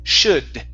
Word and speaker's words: should: In this word, the L is silent, so instead of saying should, it's should.